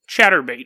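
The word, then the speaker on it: Chaturbate: Chatterbait. It's not like chattering your teeth. It's like chat.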